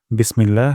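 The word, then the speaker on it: بسم الله: প্রথম শব্দটি হলো বিসমিল্লাহ এখানে বিস সিন থেকে আমরা বাতাস বের করব বিস তারপর মিল্লা ইলাতে আল্লাহ শব্দ এখানে আমরা এক আলিফ টান দিব এক আলিফ টান লম্বা করে দিব বিসমিল্লাহ তারপর হিয়ার এখানে প্রথম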